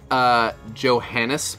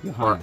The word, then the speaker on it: Johannes: Johannes. Or it might be Johannes, honestly. The J is it's soft J, oh. Like yogging. I believe it's jogging or yogging.